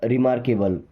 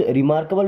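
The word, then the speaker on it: remarkable: रिमार्केबल। क्या? रिमार्केबल या शुद्ध। रिमारकेबल भी बोल देते हैं। बट एक्चुअल में रिमार्केबल है।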